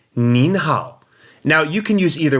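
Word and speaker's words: 您好: time they may use the respectful form of the word knee you and that would be mean and I n in the second tone so instead of saying Neha they may say mean how now you can use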